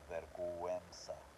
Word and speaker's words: vergüenza: So vergüenza, which means shame, to be ashamed or be bashful, or vergüenza.